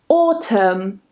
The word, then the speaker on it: autumn: Autumn, column, gam, hymn, and yes, this is pronounced the same as him, condemn, and the last one, government.